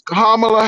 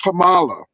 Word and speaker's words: Kamala: It's what is the name? Kamala. What is it? It's Kamala Harris. It's not Kamala.